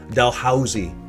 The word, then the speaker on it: Dalhousie: from the east when they call this dalhousie delhousie street in okay delhoozi dalhousie is typically the way we hear it dalhousie um